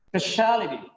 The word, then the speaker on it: speciality: Speciality. Speciality. Look at here. Speciality. T are last two syllables. Last from third is speciality. It is not speciality, it's speciality.